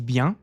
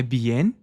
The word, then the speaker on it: bien: si é uma notinha a esse bian não é bien, a gente não pronuncia bien com n i e i e é convencional, não é be e não. Não precisa pronunciar esse N no final, não é?